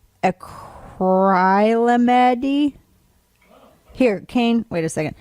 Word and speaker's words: acrylamide: It's spelled ACRYLAMIDE, acrylamide. Yeah, so there's two vowels technically after in that syllable, so the first one would be long.